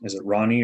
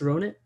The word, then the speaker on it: Ronit: Is it Ronnie or Ronit? Had a question if they want to. There we go. Yeah, it's Ronit.